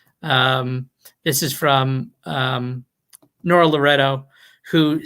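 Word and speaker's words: Nora Loreto: there's real activism and voting as i think nora loretta would nora loretto she doesn't like it when people say her name wrong which i can understand as somebody who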